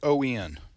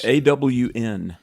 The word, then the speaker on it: on: But I was AWN. Jenna was making fun, and then Ed. Well, Ed, my dear brother Ed here, he just said you're wrong. It's on. On.